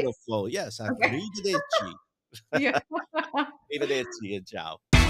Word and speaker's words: arrivederci: Ciao, arrivederci. Oh, I'm That's gonna so roll your R. arrivederci. Did I say it right? Beautiful, yes, Okay. arrivederci.